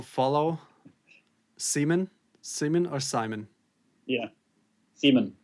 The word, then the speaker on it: Simen: Yeah, SIMEN. SIMEN. That's how you pronounce it correctly.